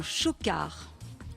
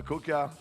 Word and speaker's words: chocard: la corneille à bec jaune, c'est le chocard. Ah, CHOCARD. D'accord, et ça se prononce pas Coca.